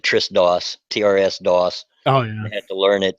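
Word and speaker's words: TRSDOS: do they call it I pronounce it Tris Doss TRS Doss oh yeah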